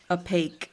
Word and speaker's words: opaque: Opaque.